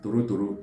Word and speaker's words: Torotoro: So the Igbo Izugbe calls it Torotoro, T-O-R-O, T-O-R-O.